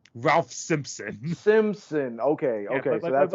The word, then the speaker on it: Ralph Simpson: No, it's I thought it was Ralph Sampson too when I was looking at this list. It's Ralph Simpson.